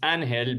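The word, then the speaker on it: Ángel: is in Spanish and the g is silent so it sounds like an hell I always tell people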